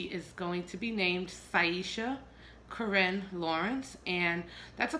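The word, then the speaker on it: Syesha: of Beyonce songs, and her name was Saisha. She had such a beautiful angelic voice, and it's spelled S-Y-E-S-H-A, and I just fell in love with that name.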